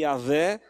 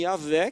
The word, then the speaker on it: Yahvé: Pegaram as consoantes do nome Yahvé, que ninguém sabe ao certo a pronúncia. Alguns falam Jeová, Yahvé. Parece ser mais provável ser Yahvé, a pronúncia certa.